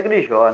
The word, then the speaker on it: Grijó: Pronunciei corretamente, é Grijo mesmo, né, o? Isso, isso. Era Grijó, né? Mas com o tempo foi perdendo essa pontuação nos registros.